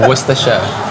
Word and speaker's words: Worcestershire: I say Worcestershire. I say Worcester. What happened to the shirt? You don't say the shirt.